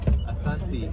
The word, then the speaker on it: Asante: Asante.